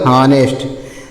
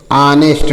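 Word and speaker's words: honest: और ट हो जाएगा तो क्या पढ़ा जाएगा हनेस्ट तो लेकिन सही रूप में पढ़ने के लिए ऑनेस्ट पढ़ते हैं। क्या पढ़ते हैं? ऑनेस्ट। ऑनेस्ट को ह को साइलेंट कर देते हैं। औ से उच्चारण करते हैं तो ऑनेस्ट हो जाता है।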